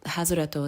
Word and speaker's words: Hazureto: So Hazureto is how you say my last name. There's a word in Japanese, hazure, and it sounds almost identical.